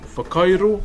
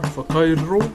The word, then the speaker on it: whakairo: So WH is as a F for us. So far. So you can say FAR, far, Kai. So how you guys pronounce Kai, Kai. And RO, so Whakairo, so you slightly roll your R, Whakairo, raw.